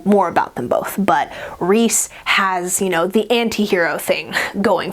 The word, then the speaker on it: Rhys: But I think I looked in the back in the glossary and it's pronounced Rhysand. And it's shortened to Rhys.